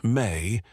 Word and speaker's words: me: The mi pronounced may appears throughout Sumerian literature as a fundamental category of existence.